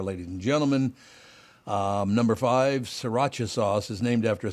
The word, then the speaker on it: Sriracha: go uh it's Sriracha ah stop it with the R I hate that yeah this builds but yeah but this one is like s-i-r-a-c-h-a yeah Sriracha yeah Sriracha you're right the other one is spelled s-r-i-r dumb we're calling it sriracha and everyone knows Frank's